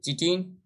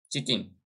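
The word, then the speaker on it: chitin: ये बना होता है आपका, एक सेकंड ऑप्शन ऊपर में रह गया, चिटिन, चिटिन का बना होता है। काइटिन जिसको इंग्लिश में लिखते हैं ऐसे स्पेलिंग होता है, काइटिन का बना होता है।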